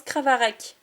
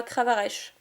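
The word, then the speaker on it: Crabaraque: pas ça se prononce cravarec et pas cravareche voilà voilà ça se prononce pas comme ça se comme ça s'écrit donc j'ai déjà cette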